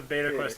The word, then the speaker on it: Beta Quest: No, today we're going to show you guys the beta quest from Ocarina of Time. It's pronounced Beta Quest. It's beta. Like meta.